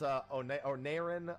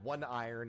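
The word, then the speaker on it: Oneiron: So he went into Vault Onerin, or One Iron, if you prefer to be an asshole like me, because I love saying, yeah, look, Vault 1 Iron. And then everyone's like, that's not how it's said.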